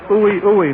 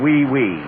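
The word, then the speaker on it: oui, oui: Ooey, ooey, monsieur. Wait a minute. That's pronounced wee-wee. Well, why don't they spell it right?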